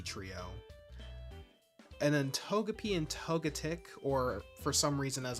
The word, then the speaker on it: Togetic: And then Togepi and Togetic, or for some reason as I've heard some people pronounce it, Togetic.